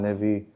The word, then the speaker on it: Levi: Uh, it's Levy. My name L E Vi. Sometimes Lev is spelled with a Y.